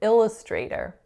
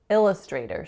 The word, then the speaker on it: illustrator: for those and then the final word that I said incorrectly was the word illustrator illustrator so the program is called Adobe Illustrator but what I had said was Adobe Illustrator so I put the stress on the wrong syllable so let me know